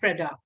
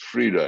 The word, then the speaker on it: Frida: powerful story was of Freda, where you call her Freda. You address her as Freda because you're It's pronounced Frida, actually. Frida. Okay. Frida. So Frida, Like freedom, yeah.